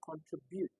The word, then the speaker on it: contribute: Identify the correct stress for contribute. Contribute. Okay. So we have contribute. Contribute. Contribute. Right. Contribute contribute or contribute or contribute is contributing takes stress on the second syllable.